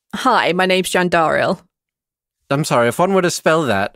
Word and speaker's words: Jandaril: a hand and he says hi my name's jandaril i'm sorry if one would have spelled that